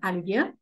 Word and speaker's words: Olivier: and fireworks too uh Olivier Alivia we pronounce it Alivia Alivia is a dish